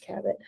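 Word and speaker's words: Cabot: it's called the mediator It Is by Meg cabit uh c o b o t but it's pronounced cabit highly recommend it's about a girl who can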